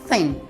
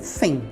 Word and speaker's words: thin: A palavra thin, presta muita atenção na pronúncia aí, que lembra que tem o TH, sempre que tem o TH você vai ter que colocar a ponta da língua entre os dentes.